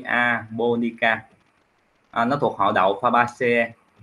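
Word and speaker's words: japonica: khoa học là Sora chữ j này Mình đọc là y ha anh chị i a ha chứ mình không đọc là g ha Mình đọc là y a bonica Nó thuộc họ Đậu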